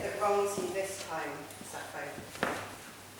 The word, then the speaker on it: Sappho: Today in English, she is all soft sibilants and faded Fs, but in fact she is for Sappho. In ancient Greek and indeed in modern Greek, if you hear a native speaker say her name, she comes across spitting and popping hard Ps. Po.